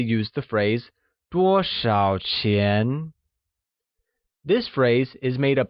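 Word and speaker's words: 钱: falling rising tone lastly money which translates to chin is pronounced with the mid rising tone great let's take a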